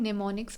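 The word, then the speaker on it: mnemonics: तो वो जो स्ट्रेटजीस यूज़ कर करके जिनसे हम मेमोरीज़ को बढ़ा सकते हैं उनको हम निमोनिक्स बोलते हैं। ठीक है? एम यहां पे साइलेंट होता है।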